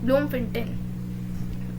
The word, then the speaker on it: Bloemfontein: Spelling में आपको बोल देती हूँ, BLOEMFONTEIN, ब्लूमफोंटेन।